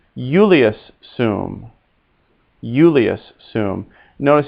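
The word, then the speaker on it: Iulius: boy says julius soom yulius assume notice how that spell that's i u l i u s and often when i comes first in latin it makes a y sound euless so again repeat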